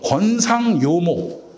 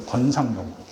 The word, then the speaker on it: 권상요목: 4번 보시면 권상요모 이라고 읽어요. 권상요모.